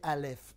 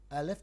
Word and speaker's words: Aleph: Aleph n'est pas quelque chose de prononçable, il se prononce A, comme le souffle qui a été injecté en vous.